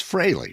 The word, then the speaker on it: Frehley: think it's an exciting both pronunciations have become acceptable but I think technically it is ace frehley it's Fraley right yeah not that I'm